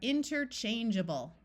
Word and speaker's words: interchangeable: long a sound but suffixes in English are rarely accented and they tend to have vowel sound schah so this a will take on a short u or a short I sound so we have interchangeable let's look at our